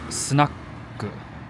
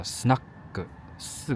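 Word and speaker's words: スナック: 這 4 個字兒念作 snack，第 3 個它是不發音，是把那個音給它避掉，叫促音，所以叫 snack。4 個節拍，但是 3 個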